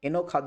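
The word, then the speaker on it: enojado: যদি স্পেনে বলা হয় তখন জকে ক্ষয়ের মত উচ্চারণ হয় তখন এনখাদ হয় এনখাদ এনখাদ এনখাদা বিরক্ত বা একঘে এটাকে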